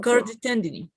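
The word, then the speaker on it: chordae tendineae: It's cordy. I and E, like an E. Cordy. Cordy tendinous. The cordy tendini. Cordy. Yeah, cordy tendini. Actually, it looks like Latin, but the pronunciation is cordy tendini.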